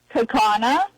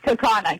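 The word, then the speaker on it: Kaukauna: Or or as my uh my AI says, Kaka, but it's Kakana.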